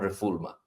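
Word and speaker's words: non-refoulement: मतलब ये स्पेल होता है आर इ एफ ओ यू एल ई एम एन टी बट it's pronounced S नॉन रिफमा।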